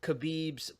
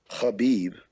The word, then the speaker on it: Khabib: I mean, your thoughts overall, firstly, on Khabib's general performance against Iaquinta, because that was a tough thing.